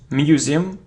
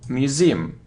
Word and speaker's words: museum: wicka-wicka-wicka-wicka look it isn't museum now museum so you see that the stress is on the second syllable Museum museum it isn't